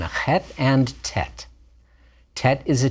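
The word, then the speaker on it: ח: is a t sound hat is a guttural sound like the ch in bach if you sound like you're gargling but to make you make the sound in your mouth not in your throat that's close enough for folk music and the tenth letter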